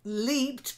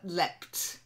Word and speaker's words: leapt: a little short then leaped yeah but leapt because it's the past of